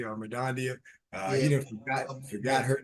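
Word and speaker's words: Mirdania: That's how you say her name correctly, Madondia.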